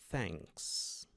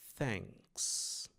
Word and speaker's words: thanks: Ele é um som parecido com ã com um c pronunciado com a língua entre os dentes. Então nós temos thanks, thanks.